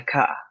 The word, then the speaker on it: kaa: In a kaa. If you choose to accent it, don't be too rough on the double a or the double o. Because most Swahili speakers just elongate it.